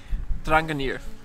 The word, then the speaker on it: Drangarnir: he knows the place but how do you pronounce this place ranga near ich ranga near yes pretty good yeah do you have to